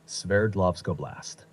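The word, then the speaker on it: Sverdlovsk Oblast: oist that's the one name might sound tricky but it's pronounced like this s lovco blast this region is known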